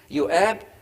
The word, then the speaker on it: Joab: he confed with jake joab or uab the j is pronounced y in hebrew yuab the son of zuria